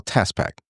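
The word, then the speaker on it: TaaS Pak: is what we call TaaS Pack. Everybody's going to get When you Can you spell that? It's TAASPAK. Okay. It's not like the Tasmanian devil.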